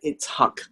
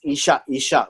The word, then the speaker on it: Itzhak: Itzhak. Although we may have pronounced it as Ishak, but it's actually Itzhak.